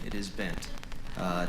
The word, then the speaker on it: Bengt: bam we say ben in sweden you would actually pronounce the g it would be banked uh but here in